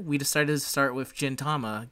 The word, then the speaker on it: Gintama: i have been saying gentama because his name is gentoki yes okay we'll go with well it's just the japanese word for silver so gin is silver yes which i know